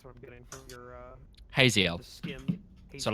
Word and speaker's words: Haziel: Because that's what I'm getting from your Haziel. the skim. So Hazel. like Like Hazel, but with more with more more- pretentious.